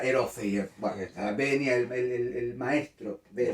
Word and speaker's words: Erofeyev: Acá me confundí, le decía Eferoyev y era Erofeyev.